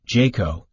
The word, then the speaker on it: JCAHO: of hospital organizations also referred to as JCAHO pronounced Jayco and the National Committee for Quality Assurance often